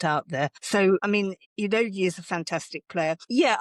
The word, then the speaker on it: Udogie: I had to look up how to pronounce Udogie the last night because I started calling him Udogie thinking it was, you know, the right thing to say, but it is Udogie.